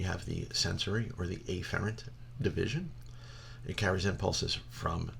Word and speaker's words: efferent: efferent little side note the correct way to pronounce this is afferent and efferent many instructors will just say a farad's and efferent to avoid any type of confusion all right so we